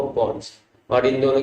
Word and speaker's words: pons: है, this yellow वाला structure is called as पॉन्स। पॉन्स, पॉन्स, PONS जी, अच्छे से सुनेंगे तो समझ में आएगा। तो PONS, ये स्पेलिंग देख लो, पॉन्स है ये, ठीक है।